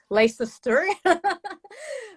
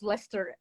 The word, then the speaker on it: Leicester: She lives in Leicester. She had to teach me how to pronounce that word because I would say Leicester, but now I know it's Leicester.